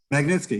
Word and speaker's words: Magnitsky: It led to this, I don't want to mispronounce it, the Magnitsky Act? Magnitsky, yeah.